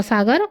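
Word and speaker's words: Tsugaru: में है यह जावा सागर और सेलेबस सागर के बीच में मक्सर जलराम मध्य नेक्स्ट इ तु सुगारू वैसे इसको सुगारू भी पढ़ेंगे टी साइलेंट रहेगा तो सुगारू जलडमरूमध्य यह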